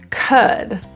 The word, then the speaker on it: could: some rather than psalm could this is an Epsilon sound also the L is silent so we don't say that L them typically pronunciation of